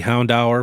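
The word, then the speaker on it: Houndour: of them at 15 next we have the Hound hour from obsidian flames and yes that is how you pronounce Hound hour this was $328 couple months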